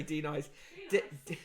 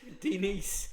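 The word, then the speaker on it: Deniece: susie quattro is 71 d nice williams denise williams do you nice why did i say denies denise denise it's spelt d e n i e c e denise williams uh singer uh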